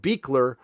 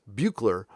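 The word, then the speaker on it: Buechler: like bugler Bueller but it's pronounced beekler on the west coast it's pronounced bugler on the East Coast I don't know why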